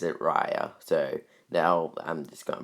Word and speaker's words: Raya: i'm gonna be honest i thought this was pronounced reya in the last dragon but then the teaser came out and she pronounced it raya so now i'm just gonna pronounce it raya um so yeah i'm gonna be honest i